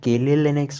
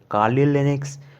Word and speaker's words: Kali Linux: debian destroy of linux you may pronounce it as kaylee linux or kali linux or anything you wish from today onwards i